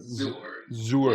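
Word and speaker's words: Zuhr: Is that how you pronounce that? Zur.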